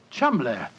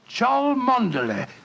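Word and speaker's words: Cholmondeley: reason to know that the name Chumley is in no way pronounced the way it is spelt. Oh, Joe, I never thought of that. Chumley. That name's spelt C-H-O-L, Chol, M-O-N, Mon, D-E-D, L-E-Y. Chol Mondele. Mondele.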